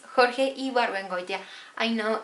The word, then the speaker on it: Ibargüengoitia: that I like the most, and it's Jorge Ibargüengoitia. I know it's difficult to pronounce his last name, Ibargüengoitia.